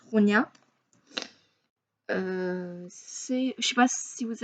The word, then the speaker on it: Ronja: Alors, il écrit Ronja, mais moi je prononce Ronia.